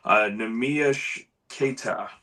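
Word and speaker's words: Neemias Queta: And I've I've pulled up how to pronounce his name so I don't butcher it, but it's Nami Keta.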